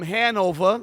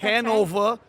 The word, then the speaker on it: Hanover: Our first guest, she's originally from Hanover. I said it right? Yeah, that's right. That's Hanover, Massachusetts.